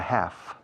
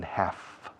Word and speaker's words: half: Fijaos que la palabra half, h a l f, the l is silent. We don't pronounce the letter l in half.